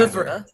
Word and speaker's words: oeuvre: oeuvre, oeuvre. Since we're from Canada, we can pronounce it properly, Oui, oeuvre.